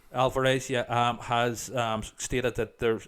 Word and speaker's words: Alvarez: I know the director, Fede Alvarez, hope I'm pronouncing his name correctly. Alvarez, yeah, has stated that it's set in the same universe as the original.